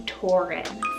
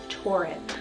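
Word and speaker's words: Torrin: option here is the name tauren t-o-r-r-i-n tauren i love the sound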